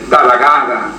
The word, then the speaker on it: Tathagata: Y entonces ellos querían ver todo en función del Tathagata, que se escribe Ta-ta-ga-ta, pero con TH, que se pronuncia D en sánscrito.